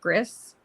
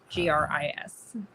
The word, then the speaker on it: Gris: Gris. Okay. So I don't actually think you're supposed to pronounce the S, but it's side scroller,